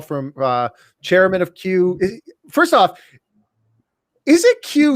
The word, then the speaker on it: QYOU: the best q u we thought stupidly that people would run the letters together and just announce it as q is one word qyou would be pronounced as q no one in history has ever called us q except for uh except for us everybody says cue you so that's why it's